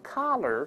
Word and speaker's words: color: 勾舌头，所以读成 color 这个声音。